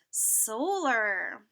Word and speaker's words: solar: Solar. Solar. This is AR like dollar. Solar.